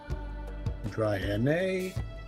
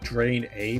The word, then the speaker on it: Draenei: Draenei? Draenei? Draenei? No, if it's like maybe Drain, but I can see, but it looks like Drain A because of the EI.